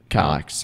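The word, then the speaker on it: Kallax: it actually is sort of made for the Kalax, however you pronounce it. Kalax.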